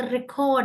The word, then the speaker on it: record: ஸோ இதுல வந்து ரெக்கார்ட் என்ற வேர்ட், ரெக்கார்ட் RECORD, ரெக்கார்ட் என்ற வேர்டு வந்து நவுனாக இருந்தா நம்ம முதல் பாதியை வந்து ஸ்ட்ரெஸ் பண்ணணும், வேர்பாக இருந்தா ரெண்டாவது பாதியை ஸ்ட்ரெஸ் பண்ணணும்.